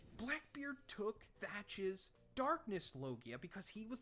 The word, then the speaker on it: Teach: known as Blackbeard and he was called Edward Teach and pronounced Edward thatch Oda manipulated his name